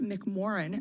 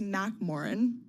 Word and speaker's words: McMoRan: uh and this company Freeport McMoRan actually it's Mac Moren was mispronouncing it uh it's a copper